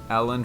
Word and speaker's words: Elland: Elland Road. You see, the problem here is Elland rhymes with Bellend.